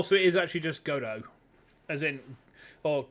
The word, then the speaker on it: Godot: You don't think you pronounce his name since the... Oh, so it is actually just Godot. As in... Or Godot, I suppose.